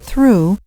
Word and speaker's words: through: For example, in the word through, the gh is silent.